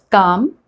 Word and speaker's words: calm: understand this better so the words like calm bomb walk talk almond l is coming after a and so we are not pronouncing it now after o